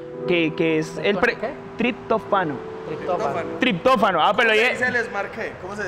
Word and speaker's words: triptófano: genera, arrastra los aminoácidos que compiten con el tritofano, que es el... ¿Qué? Tritofano. Triptófano.